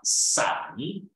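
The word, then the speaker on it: 伞: Oui, parce que le parapluie, ça se dit en chinois san, et ça sonne comme san, séparé, séparation, rupture.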